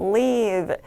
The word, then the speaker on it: leave: 자, 여기 나오는 live 같은 경우는 좀 짧게 빠르게 발음해서 live 이렇게 끊어주시면 되고 여기에서 남겨놓다 정도의 단어는 leave 길게 끌어 읽어주시면 되겠습니다.